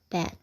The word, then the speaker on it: bat: Bat. Bacanya bat ya. Jadi agak mau ke huruf A. Bat, tapi mau ke A. Bat. Gitu.